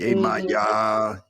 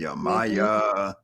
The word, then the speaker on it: Yemaya: we hear that name being pronounced different ways. Hmm. Yemaya, Hmm. Yamaya, so on and so forth. Yamoja.